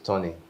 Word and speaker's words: Thonny: they use Tony Tony. IDE. Could you spell it for our audience?